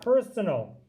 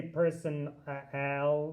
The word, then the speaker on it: personal: you look at personal we don't say person al like it doesn't sound like an A and it doesn't sound like a long a person ail no it makes a kind of in-between sound like personal that's the schwa sound and you might see